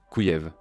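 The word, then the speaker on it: Kyiv: Vous pourriez dire Kiev, mais c'est ainsi que les Russes le prononcent. Les Ukrainiens disent Kouyev.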